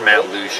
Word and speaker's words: Matlacha: I've been told it's pronounced Matt Luce.